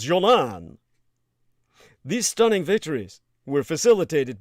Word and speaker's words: Golan: and East Jerusalem, and the Golan Heights, correctly pronounced Jolan.